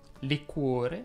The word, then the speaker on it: liquore: Sì, liquore va pronunciato con la O chiusa. Si dice liquore, ma si dicono anche un sacco di altre parole diverse da come le pronunci tu.